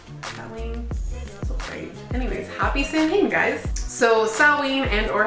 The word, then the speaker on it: Samhain: like to call it, Samhain, because the way it's spelled is like S-A-M-H-A-I-N, so Samhain.